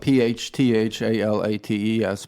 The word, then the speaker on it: phthalates: the pH correct yeah phthalates you don't pronounce the pH it's spelled p-h-t-h-a-l-a-t-e-s but you don't pronounce